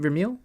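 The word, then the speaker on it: Vermeule: brother had mentioned that adrian vermeel is that how you say it vermeel yeah the integralist harvard professor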